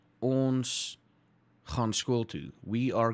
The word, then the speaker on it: ons: Because it's pronounced ons, not ons, ons.